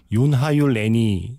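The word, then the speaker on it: Gyöngyhajú lány: 제일 비슷한 게 윤하유 레니 정도로 읽어야 될 것 같습니다.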